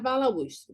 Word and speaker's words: balaústre: Vamos analisar balaústre. Balaústre. Balaústre. E essa palavra balaústre, eu tenho ali o acento no us.